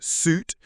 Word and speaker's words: suit: And yes, I said suit, not sue. Suit. We pronounce suit with the long ooh as in boot.